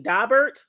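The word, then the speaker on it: Daubert: Now, for y'all who don't know, because I didn't know this either, but a dabbert and it's spelled D A B E R T. Dobert.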